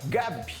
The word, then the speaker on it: G4B: Cíntia é cofundadora da Gabi. É assim que se pronuncia, né? É GW4 e a pronúncia é Gabi.